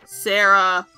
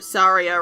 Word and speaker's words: Saria: There's these guys, these brothers, Mido, Sarah, or Saria, rather. I always called her Sarah as a kid, which we're gonna get into that.